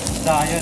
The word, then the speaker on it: Zaya: What's the proper pronunciation of the name of your restaurant? Zaya 1943.